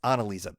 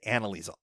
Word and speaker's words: Annalisa: I'm sorry, it's Annalisa. I did this at the DC events too. For some reason, I have this Canadian portion of my brain that pronounces things like Canadians, and she pronounces it Annalisa, but I say Annalisa all the time.